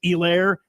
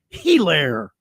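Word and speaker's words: Helaire: Anytime you uh you draft a guy with with the H in his name, you don't pronounce the H.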